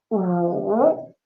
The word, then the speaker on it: 五: You say 五 So your mouth is very small, but this goes down and up.